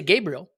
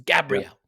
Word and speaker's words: Gabriel: it's clearly not yet when I say Gabriel people get very very upset about this it's Gabrielle so the the irony of